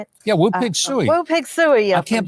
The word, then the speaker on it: Woo Pig Sooie: Yeah, Woo Pig Suey.